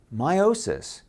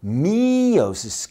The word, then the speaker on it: meiosis: making two identical nuclei now meiosis notice that slight missing T it's spelled m o sis so I slightly emphasize the E because meosis can be used for